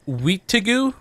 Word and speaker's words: Wendigo: Wendigo! It's pronounced Weetigoo. Actually, that's what the Crees call it.